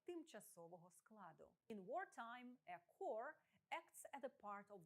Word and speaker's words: corps: Зверніть увагу на написання та вимову слова corps. Не путайте його з corpse – мертве тіло, corpus – корпус, збірка або core – ядро, серцевина. Множина від core – corps – пишеться так само, але вимовляється із закінченням corps.